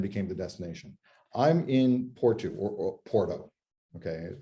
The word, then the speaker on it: Porto: the destination I'm in portugu or Porto okay which is pronounced Portu here and I am